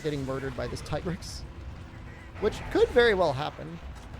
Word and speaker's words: Tigrex: Is it Tigrex or Tigrex? Don't get me started. It's Tigrex. Officially. Whatever you want to believe, though, is the way it's pronounced.